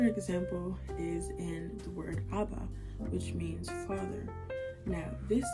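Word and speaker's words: אבא: These are both very much appropriate, and they both sound the same, and understand that this is pronounced Abba and not Abaha.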